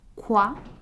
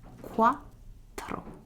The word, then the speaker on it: quattro: And if you want to remember it, you may think of the sound that ducks make. So, quack, quack, quack, quack. And it's going to be quattro. So, very similar to the pronunciation of tre, but with an O. So it's quattro.